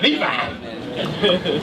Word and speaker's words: Levi: Levi. No, you said it right. Levi. You got it right.